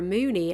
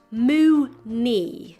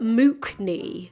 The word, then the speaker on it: Mooknee: It's pronounced Mooney, like moo as in the cow, and knee as in kneecap. It's not Mookney.